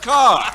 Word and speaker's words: Kerr: and Deborah Kerr, pronounced Carr.